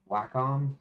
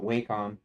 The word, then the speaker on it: Wacom: Wacom how they're pronounced they used to pronounce it wcom but wack guess the way that they all pronounce it actually I think it's the way the company at least the advertisements of the company did themselves Dusty see this is